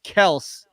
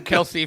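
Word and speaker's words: Kelce: way everybody out there travis kels is how you pronounce his last name did his brother i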